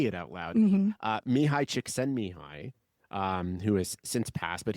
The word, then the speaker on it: Csikszentmihalyi: Mihai Csikszentmihalyi, who has since passed, but he was one